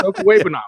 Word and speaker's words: Okwuegbunam: It's Okwuegbunam. It's not that hard. If I can say it, I mispronounce Rita, for the love of Christ.